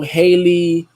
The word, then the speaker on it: Halle: that when it comes down to this whole Haley, I can't say, I think it's Haley, because it's one of them, like Haley, Holly. I always get them mixed up. Yeah, so it's Haley.